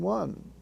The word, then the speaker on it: one: Note that in the on, don, ron spelling family, the words sun, ton, and one are pronounced as if the O was a short U. Sun, ton, and one.